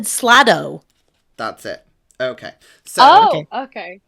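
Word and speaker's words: slaad: a creature called H SL SL day slay nope no spelling I'm not writing I just want to understand so I can pronounce it correctly yeah couldn't hear we can't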